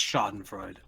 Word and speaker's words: Schadenfreude: that's pretty nuts yes it is razor it's pronounced schadenfreude all right you piggy about it that must